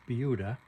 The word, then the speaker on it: Buda: UD da but is pronounced beuda as if there's a w Behind the B don't know why but